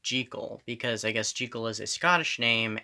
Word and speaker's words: Jekyll: they always call him jekyll well i read somewhere that robert louis simonson was asked about that and he said let it be uh pronounced jiggle because i guess jiggle